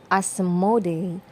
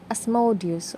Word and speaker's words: Asmodeus: well even in dreams his name is sometimes pronounced as asmode or asmodei and sometimes people call him asmodeus or asmodeus whichever feels